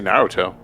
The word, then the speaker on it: Naruto: Well, in the anime they say Naruto.